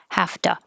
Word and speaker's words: have to: these together have to we don't pronounce the v we don't keep our voice on we just make have to hafta so now you can